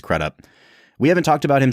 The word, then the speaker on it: Crudup: now too and I'm I'm pretty sure that's how he pronounces his last name I've heard crudup I've heard kup but I think it's kup we haven't talked about